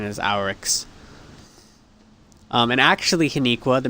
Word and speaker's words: Oryx: the original hive it's it's our it's actually pronounced our x all right because it's a r i o r a or x i mean it could be yeah the closest pronunciation is our x um and actually haniqua the mystery of crota's